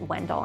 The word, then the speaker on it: Wendell: However, the locals pronounce it a little bit differently. I pronounce it Wendell, and so do most other people that I encounter.